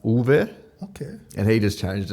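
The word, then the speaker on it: Uwe: His name was It's spelled U W E U, but it's pronounced Ulv. Okay. And he just changed it. It was like because everyone calls him Yui and he he didn't I you know he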